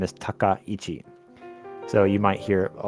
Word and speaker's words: Takaichi: Her first name is Sanae, S-A-N-A-E, Sanae, and then last name is Takaichi. So you might hear a lot of people pronounce that a lot of different ways.